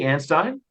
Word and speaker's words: Anstine: My two speakers today or presenters is Miss Anstine. Am I pronouncing that correctly? Anstine?